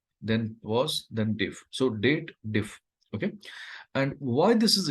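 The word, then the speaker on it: DATEDIF: diff date diff so people always draw does a wrong pronunciation they believe that there is a if condition added and they have to read it as dated if but technically this is a date related formula we should read it as date then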